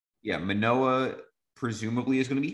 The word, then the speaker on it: Manoah: Yeah, Manoah presumably is going to be healthy.